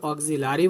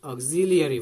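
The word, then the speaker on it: auxiliary: আচ্ছা, অক্সিলিয়ারি, তাহলে আমরা অক্সিলারি বলবো না, we should pronounce অক্সিলিয়ারি verb.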